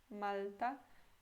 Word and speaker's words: Malta: Esse L é com a língua mais pra frente. Malta. E aqui, Malta, como se tivesse U, não L, na minha opinião.